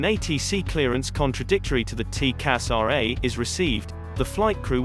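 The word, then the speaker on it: TCAS RA: Call sign, TCASRA, pronounced TCASRA.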